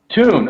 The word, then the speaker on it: Tune: is Mike Buff on the Thun Cranks. Am I saying that right, by the way? You got called out in one of the videos. Did you know that? Yeah, because I'm saying it wrong, right? What's it called? Tune.